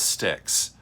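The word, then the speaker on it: Styx: big album from them the band is sticks and it's spelled s-t-y-x now i don't know how why they had to spell it that way because when i think of sticks it is spelled differently but uh we're going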